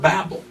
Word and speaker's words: Babel: Babylon modern day Babylon so Babylon Babel it should be pronounced Babel so this guy Nimrod